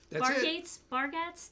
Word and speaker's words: Bargatze: Bargatze?